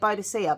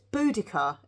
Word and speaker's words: Boudica: I've always said Boadicea, but apparently it's not. It's Boudica.